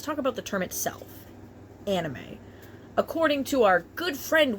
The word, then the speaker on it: anime: In Japan, it's pronounced anime.